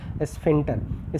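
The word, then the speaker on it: sphincter: यहाँ पे सी साइलेंट होता है इसीलिए इसका प्रोनाउंस करते हैं इसको स्फिंक्टर। स्फिंक्टर क्या होती है?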